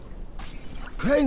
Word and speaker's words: Crane: name is crane okay crane rhymes with train and pray and say and crane and rain and plane and the other kind of plane and and can I